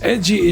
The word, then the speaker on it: ecchi: by Western audiences as edgy is just the Japanese pronunciation of the letter H A which stands for